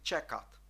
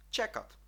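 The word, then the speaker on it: čekat: це літера а ч або звук ч передає вона у слові чекат чекат Ну ви мабуть здогадалися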